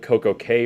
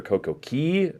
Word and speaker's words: Coco Cay: don't know, Royal Caribbean leases an island called Coco Cay or Coco Key, depending on how you want to pronounce it.